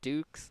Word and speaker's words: Dukes: Like, I don't really want to read that off his quote, but Richard it's pronounced Dukes like nukes, because we were all struggling calling them ducks for the first day.